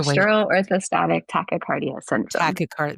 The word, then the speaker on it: tachycardia: tachycardia.